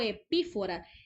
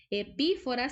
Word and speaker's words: epífora: Si se fijan, esta palabra no lleva tilde porque a veces nos confundimos. Cuando yo digo epífora, epífora sí lleva tilde porque es una palabra esdrújula, pero en el caso de epifonema es una palabra grave y no se tilda porque termina en vocal.